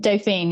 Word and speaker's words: Dauphine: You mentioned the Dauphine of France. Is that how you say it? Dauphine, yeah.